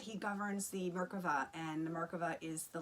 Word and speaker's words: Merkava: It's bringing more light into our Merkaba, or Merkava, I'd like to call it. That's the Hebrew, how the Hebrew pronunciation of it, the Merkava.